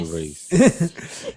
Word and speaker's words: Nyck De Vries: They go together, but I don't want to mispronounce his name. Is it Nyck De Vries? Oh, yes. Nyck De Vries.